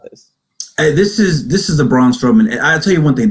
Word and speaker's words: Strowman: I'm pretty sure we both also predicted Braun Strowman to win this. Strawman? I don't know how to pronounce his last name.